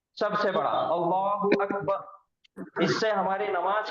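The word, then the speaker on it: الله أكبر: लेकिन हम यहां पे रुक जाते, सुकून करते, आयत करते। इस वजह से ये र के पेश को हम सुकून में बदल देते। तो ये हो जाता अल्लाहू अकबर।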